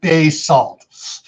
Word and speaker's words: basalt: you know around here around here in idaho it's all pronounced basalt and they take offense if you pronounce it basalt no it's spelled b-a-s-a-l-t bay salt and they get really